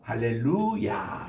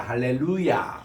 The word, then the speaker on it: 할렐루야: 야 하는 것은 여호와를 찬양하라 이런 말이거든요 그래서 할렐루야 이렇게 발음을 하셔야 됩니다 따라합시다 할렐루야 할렐루야 그 김삼환 목사님이 뉴욕에 오셔 가지고 대중